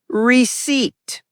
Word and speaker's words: receipt: Correct is receipt. Example, don't lose the receipt. The P is silent always just like psychology.